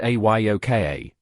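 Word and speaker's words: Ahyoka: Enter Aoka, pronounced a Yoka, Sequoia's six-year-old daughter.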